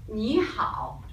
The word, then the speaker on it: 你好: 你好. 你好. Okay, the spelling help you pronounce 你好. Then you can notice here have the tone.